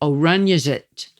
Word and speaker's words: Oranjezicht: And don't miss the Oranjezit. It's the city farmers market that's always open on a Saturday morning. And it's spelled Oranjezicht.